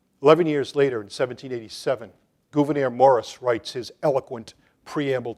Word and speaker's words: Gouverneur: By the way, Gouverneur, it's not Governor Morris of Pennsylvania. It's Gouverneur Morris. Abigail Adams, who used to write phonetically, does write it that way, and I think that's the best that we have to pronounce his name.